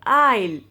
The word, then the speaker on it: aisle: You pronounce this word is aisle. Aisle. S will be silent.